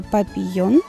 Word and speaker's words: папильон: Название папильон, если правильно произносить, это папильон, это французское произношение, но при переводе через транскрипции получается папильон, и мы называем, ну, кто как называет, но в принципе называют папильон.